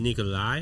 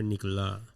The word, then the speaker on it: Nikola: It's like Ricola with an N.